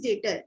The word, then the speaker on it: debtor: It is my duty to tell you because some people pronounce this as debtor. It is not debtor. It is dater. The B is silent over here.